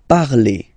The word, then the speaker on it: parlez: Remember, a Z, when you combine them together, you get the sound E. Vous parlez, all right?